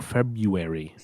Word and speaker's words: February: Feb Febru February. The R is silent.